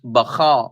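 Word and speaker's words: Baca: And by the way, the correct pronunciation is Baka, which means weeping.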